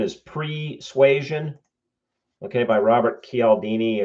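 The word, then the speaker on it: Cialdini: The first one is Persuasion, okay, by Robert Kaldini. And I I use the Italian pron pronunciation because I speak Italian. Um, so he may say it differently.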